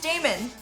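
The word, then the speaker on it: dæmon: Demons are always tricky. Got to think about that. Is it Damon or demon? Oh, if it's Damon, it's different. Oh, then it's Damon.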